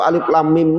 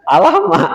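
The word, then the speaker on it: الم: Kalau alif lam mim nih anak-anak sekarang salah baca kadang alam katanya ya alama katanya alif lam mim tan ini bacanya ya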